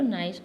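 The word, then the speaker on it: gneiss: जी silent है इसमें, marble, slate और नाइस, और क्वार्ट्जाइट, इसमें आर साइलेंट है, क्वार्ट्जाइट।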